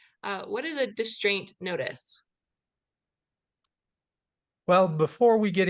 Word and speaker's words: distraint: s t r a i n t um pronounced distraint uh spelled a little bit differently but um